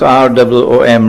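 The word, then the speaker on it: روم: would be Surah entitled room pronounce rwom room and the Quran speaks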